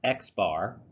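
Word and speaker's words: x̄: that in chapter one the sample arithmetic mean pronounced X bar X bar you have a a letter X with a bar on top X bar this is the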